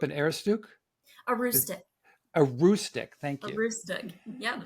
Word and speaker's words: Aroostook: Now, if I script this pronunciation, tell me, you grew up in Aroostook? A Is rustic. a Roostic, thank A you, rustic.